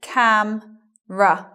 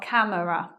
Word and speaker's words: camera: having a look at the word camera after the M elision of schwa not saying it in other words so it becomes cam ruff not camera next word family I